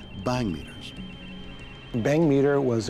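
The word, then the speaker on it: bhang: They discovered that Vela had connected its data with two light sensors called bang meters.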